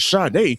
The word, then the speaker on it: Sade: Well, let's pron it's she pronounced it as Shade, but it's spell Satie. We going to call you Satie, girl.